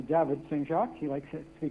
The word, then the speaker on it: Saint-Jacques: So, or let me pronounce that correctly, David Saint-Jacques.